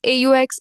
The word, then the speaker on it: aux: A plus le becomes AUX. It is pronounced as O.